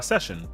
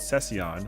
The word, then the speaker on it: Sessiion: Uh, Session. Yeah, just the the little I kind of confuses a lot of people, hilariously enough. Uh, so I've been called Cession, which I'm like, all